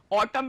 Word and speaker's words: autumn: Autumn में n silent होता है, इसको autumn पढ़ते हैं. लिखते क्या है स्पेलिंग? AUTUMN, लेकिन पढ़ते autumn में.